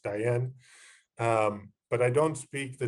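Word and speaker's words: Tayal: studying the diane of people it's spelled t-a-y-a-l pronounced diane but i don't speak the diane language pretty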